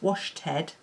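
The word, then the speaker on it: Washted: is a worsted so it's washed head um as in w-a-s-h-t-e-d i'm not just pronouncing worsted in a funny way um and it is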